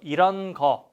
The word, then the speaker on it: 것: But if you remember this 것, we don't pronounce this S bottom letter. So 이런 거, 이런 거.